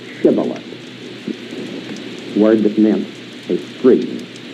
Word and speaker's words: Shibboleth: If he said, Nay, then said they unto him, Now say Shibboleth, word that meant a stream. And he said Sibboleth, for he could not frame to pronounce it right.